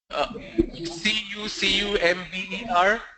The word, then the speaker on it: cucumber: It's C-U-C-U-M-B-E-R. C-U-C-U-M-B-E-R, yes, sir. E or C? Sir? C-U-C-U-M-B-E-R, cucumber. Is this the word? Yes, sir. Okay. It's pronounced as cucumber. It's not cucumber, it's cucumber.